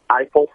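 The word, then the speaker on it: Eifle: The name of the company is Eiffel, just like the tower, except it's spelled E-I-F-L-E.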